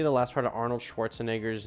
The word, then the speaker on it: Schwarzenegger: last part of Arnold Schwarzenegger's name or however you spell it Schwarzenegger that's how you say it I officially am sick